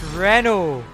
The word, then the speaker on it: Renault: the chat yeah Danica it's pronounced Renault listen